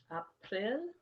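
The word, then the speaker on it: апрель: april is april april april april as you see pretty much every month has soft consonant at the end april it was named after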